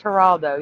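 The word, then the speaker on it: Geraldo: It's spelled It's pronounced Haraldo.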